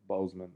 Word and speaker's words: Boseman: Chadwick Boseman.